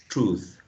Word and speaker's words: truth: uh truth right uh you want to make this um with a long o all right truth truth a right truth um what's the other